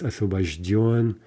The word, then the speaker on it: освобожден: Освобожденный gives освобожден, masculine, освобождена, освобождено, освобождены, right? Again, end stress, and maybe a little bit hard to say at first, right?